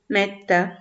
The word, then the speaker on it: mettent: Donc ça, c'est la deuxième constatation, mis à part la terminaison en ENT, qu'on prononce E, metta.